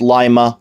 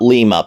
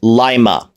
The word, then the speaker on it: Lima: grew up closer to Lima and yes it's pronounced Lima not Lima Pierce Brosnan with all due respect to you you up in the Thomas Crown Affair it's Lima Ohio Lima Peru Lima Ohio but you're you